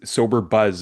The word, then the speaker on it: Sober.Buzz: You know, I understand it's Sober Buzz is the name of your organization, right? We pronounce it sober.buzz.